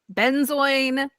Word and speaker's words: Benzoin: Benzoin. There seems to be no consensus on how to pronounce this. I've always said benzoin.